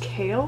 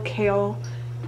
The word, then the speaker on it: Chaol: um dorian and then i think it's pronounced kale ransom prince i don't